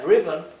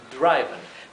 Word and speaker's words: driven: con su pronunciación larga así que esto siguiendo la regla esa inglés se pronunciaría driven driven pero como el inglés es un idioma tan irregular con tantas excepciones fonéticas Esto se debe pronunciar driven bien y no es